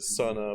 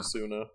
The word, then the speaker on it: Suna: Some pronounce it Suna, but it's definitely Oh. Suna if you ask the locals.